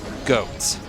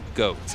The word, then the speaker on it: Goht: yes it is pronounced goat I know it says goht but it is pronounced goat it is homophonic with goats and I also read